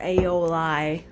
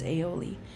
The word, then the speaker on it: aioli: Russ says aioli, which is not how you pronounce it. It's aioli.